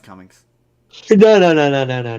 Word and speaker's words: Cumming: last name that kin Alan kumin no it's it's pronounced Cummings no no no no